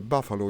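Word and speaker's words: bufalo: I mean, you know that the Buffalo is also an Italian word, by the way. It's written just the same. No, actually in Italian it has only one F, and you pronounce it buffalo.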